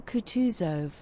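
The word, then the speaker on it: Kutuzov: General Coutus, said Bolconsky, speaking French and stressing the last syllable of the general's name like a Frenchman, has been pleased to take me as an aid to Kong.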